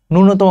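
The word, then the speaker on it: ন্যূনতম: নূনতম বানানটা এখানে ভুল। নূনতম বানানটা এখানে কিন্তু ভুল। নূনতম বানানটা হচ্ছে এরকম। বানানটা শিখা রাখো। তোমার পরীক্ষায় আসতে পারে। নুনতম। ওকে? নুন তম এটা হচ্ছে সঠিক উচ্চারণ।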